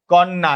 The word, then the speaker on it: কন্যা: কন্যা ন টা জফলার কারণে দ্বিত্ত উচ্চারণ হচ্ছে। উচ্চারণ করো। কন্যা কন্যা।